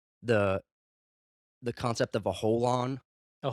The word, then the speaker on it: holon: But have you ever heard of the the concept of a holon? A holon. A holon. Is that spelled like WHOL, like No, whole, or uh, HOLON.